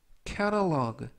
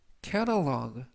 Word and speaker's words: catalog: 이번 표현은 catalog, catalog, catalog 라고 발음하시면 되겠고요. 이때 알파벳 T는 부드럽게 트가 아니라 르, 그래서 catalog 라고 발음하시면 좋겠습니다.